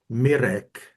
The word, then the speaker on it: Mirek: In Czech, it is pronounced like R. Can you say your name in Czech for us? Mirek.